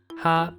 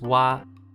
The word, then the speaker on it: は: of which two hirana ha and he are pronounced differently when used as grammar words ha becomes wa and he becomes e this is a little